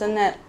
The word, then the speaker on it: Anet: Hello Jaguars, my name's Anet. I'm called Ant sometimes for people that don't know how to say my name properly.